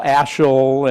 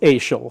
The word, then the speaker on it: Asahel: back in the day nobody knew how to pronounce ael's name it's spelled asahel and people call ashel and all kinds of variations of ass it it um but the family says it's AAL so we stick with